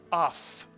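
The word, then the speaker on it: אף: one syllable, because there's only one vowel, it's simply pronounced af, mitsuyan, af.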